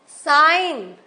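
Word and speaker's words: sign: Could साइन हम G नहीं बोल रहे हैं.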